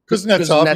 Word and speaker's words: Kuznetsov: Is it Kuznetsov? I don't know how to pronounce it. Yeah, you got that. Kuznetsov. Kuznetsov, you got it right.